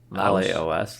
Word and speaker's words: Laos: It's a movie by Maddie Doe, who is I guess Laos. How do you pronounce that? Laos, Laos, yeah, like the country.